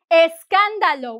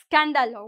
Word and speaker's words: escándalo: Escándalo. We don't say scándalo. We don't start with s.